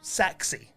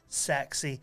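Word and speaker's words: Sachse: Um, sa Oh, Saxi, that's how you pronounce because it's spelled S A C H S E, but it's pronounced Saxi.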